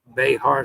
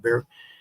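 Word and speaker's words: Bexar: Behar, someone told me it's pronounced bear, so I'm going to work on pronouncing that bear.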